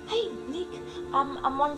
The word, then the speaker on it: Oanh: one from Vietnam.